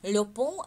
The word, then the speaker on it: pont: Le pont Александра Третьего. Повторяем. Le pont Александра Третьего. Le pont Александра Третьего. Le pont. У меня тут «Т» написано, правда. «Le pont», «Т» не читается, да, где зелененький у меня транскрипция.